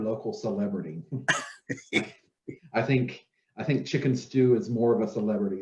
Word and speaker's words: Stu: So Chicken Stew, even though it's spelled STU, we didn't want to be too blunt.